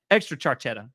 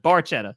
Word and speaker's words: Barchetta: Extra charchetta. Yeah, love that. Barchetta.